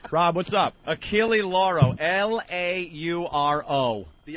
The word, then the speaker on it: Achille Lauro: Achille Lauro. Lauro. The L is silent. It's the Achille Lauro. I've been saying it wrong. What year was that? You have? Achille Laurel, I thought it was.